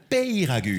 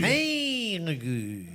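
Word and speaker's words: Peyragudes: Préciser bien de préciser à la station deud pay non prononcer comme il faut. Payragude. Payragude.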